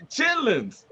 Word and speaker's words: chitterlings: She pronounced every T in that mother. Those chitterlings? Yeah, the chitterlings. Chitlins.